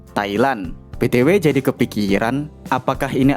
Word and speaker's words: Thailand: Thai tanpa H dan Lan tanpa D, Thailand.